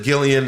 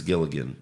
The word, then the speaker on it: Gilligan: true he said pps you guys pronounce it gillian it's actually vince gilligan okay fair enough really